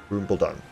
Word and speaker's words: Khrumbul-Dun: it's called oh boy it's a silent K cut rule rupal Rumble down apparently they've got a